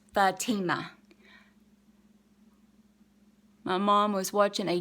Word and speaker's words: Fatima: And if y'all was wondering, that's how you pronounce my name, it's Fatima.